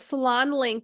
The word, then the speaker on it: SalonLynk: keep calling we keep referring to it Salon link it's spelled l y n k if anybody's looking it